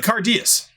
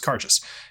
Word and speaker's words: Cairdeas: like you mean the cardius said yeah the karches uh cardius well actually it's pronounced carcass no it's cardius okay sure can i